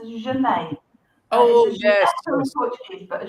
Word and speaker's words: genet: I thought I will at least try and pronounce this properly for the show. I was expecting something about that. It's just Janet.